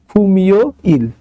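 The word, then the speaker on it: 금요일: ওকে, আচ্ছা, তারপরে আছে হচ্ছে খুম ইও ইল। তাহলে এখানেও আমরা একটা বাচ্ছিম দেখতে পাচ্ছি, মিউম, মিউম হচ্ছে বাচ্ছিম, তাহলে বাচ্ছিমের পরে আছে ইয়ং, তাহলে মিউমটা চলে যাবে বাচ্ছিমের জায়গায়, তাহলে এটা উচ্চারণ কি হবে? খুমিও ইল, খুমিও ইল, খুমিও ইল মানে হচ্ছে শুক্রবার।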